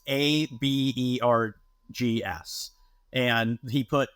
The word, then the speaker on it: Aaberg's: It's technically, back 40 years ago, pronounced Auberg's. It's Abergs.